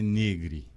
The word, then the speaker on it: Negri: Todo mundo fala Negri. Negro Orestes. Mas a pronúncia certa italiana é Negri.